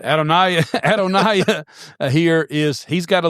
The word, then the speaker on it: Adonijah: And Adoniah or Adonijah if you prefer to pronounce J's in Hebrew that don't exist. But Adonia, Adoniah here is he's got a legitimate claim to the throne.